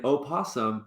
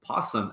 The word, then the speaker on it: opossum: scary oh my gosh the O in O possum has traditionally been dropped so you often will pronounce opossum possum as well like that's that's interesting